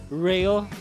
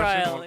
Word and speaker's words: Ryle: That's Rail or how do you pronounce it? How do you pronounce it? I asked myself the same question. Ryle, yeah. It's Ryle.